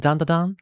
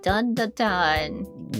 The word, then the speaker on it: Dandadan: Yep, Dandadan. Which sounds kind of odd to my Japanese ear because we usually call it Dandadan. But in English, I think it's pronounced Dandadan.